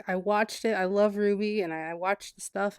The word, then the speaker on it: RWBY: Ruby it was oh have you heard of rwb why it's pronounced Ruby it's by a group that did red vs.